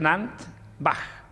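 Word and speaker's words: Nant Fach: Nuestro museo es el molino, se escribe Nant-Fach, se pronuncia Nant-Bach.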